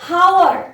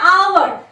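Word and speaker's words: hour: होगा कि इसका प्रोनाउंस हम लोग ऐसा नहीं करेंगे कि हावर, एच ओ यू, और ये हावर नहीं है. इसका प्रोनाउंसिएशन क्या होता है? आवर.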